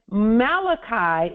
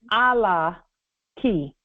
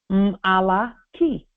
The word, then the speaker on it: Malachi: And Malachi is actually, that's a mispronunciation. That's a modern pronunciation. It's actually Allah ki. That's how we spell it in the ancient Moorish Bible. Allah ki.